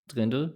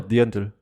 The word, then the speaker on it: Dirndl: Dirndl? Drindel? No, Dirndl. Huh? Dirndl. Dirndl. Better. Isn't it Drindel? No. Dirndl. Dirndl. Damn. Okay, I've been saying it wrong for all my life.